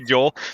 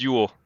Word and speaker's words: Jol: something simple for kids, although I'm sure kids are going to say Joel, but... yeah, exactly. Yeah, but it's pronounced Yule.